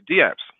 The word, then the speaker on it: dApps: What are DApps? Uh, dApps is pronounced as the same way as email is, where the D in DApps means decentralized.